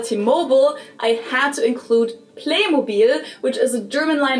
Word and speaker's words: Playmobil: But unlike how they did it with T-Mobile, they kept the German pronunciation of it for the American market too. In the US commercials, they call it Playmobil as well. Even though in everyday life, I've also heard Americans pronounce it as Playmobile, which sounds very different and somewhat wrong.